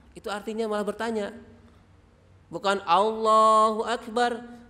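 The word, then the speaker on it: اللهُ أَكْبَر: Jadi alif lamnya itu hilang, malah dipanjangkan A-nya. Allahu Akbar. Sepertinya biasa, tapi itu artinya berbeda. A-nya itu menunjukkan apakah. Maka jangan diucapkan. Atau akbarnya A-nya panjang. Allahu Akbar. Biar kelihatan bagus itu ya. Tapi itu salah. Karena akbar itu berarti bukan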